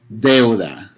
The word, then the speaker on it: deuda: You would say deuda. See that E and that U? EU, that's a diphthong. E and U become one sound, eu. Deuda, two syllables.